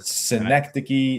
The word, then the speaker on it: Synecdoche: that is How do you How do you pronounce that word? Synecdoche, New York. Synecdoche, New York.